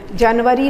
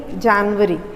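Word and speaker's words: January: I will go to Dehradun इन जनवरी, जनवरी नहीं जनवरी, I will go to Dehradun इन जनवरी। ठीक है, आपको मैं time to time correct pronunciation भी बताती रहती हूँ, उस पर आपको ध्यान देते रहना है। ठीक है, जनवरी हम हिंदी में बोलते हैं, इंग्लिश में बोलते हैं जनवरी से जनवरी।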